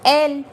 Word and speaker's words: elle: And it is pronounced as elle.